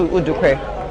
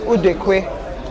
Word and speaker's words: Udekwe: I'll just stick to Udukwe since that's much easier to pronounce. Two more balls to be bowled. Udukwe. Yeah, two more balls. So the actual pronunciation is Udekwe.